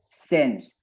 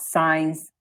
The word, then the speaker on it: since: So remember pronunciation. Since, not science or science.